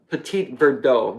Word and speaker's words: Petit Verdot: grape and the petite Petit Verdot no dull bill though I guess is the French pronunciation you don't pronounce the T but it's a good